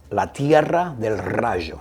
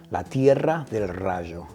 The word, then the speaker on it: La Tierra del Rayo: The last one is La Tierra del Rayo, and I need you to say it like that. You gotta roll those R's. La Tierra del Rayo.